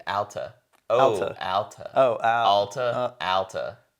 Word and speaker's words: Alta: It's pronounced like altitude, Alta.